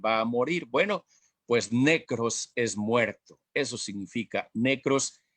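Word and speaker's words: νεκρός: En nuestros delitos y pecados, o necros, pues, porque también la pronunciación en el griego sería necros, pero nosotros en español pues no lo pronunciamos así, decimos necrología.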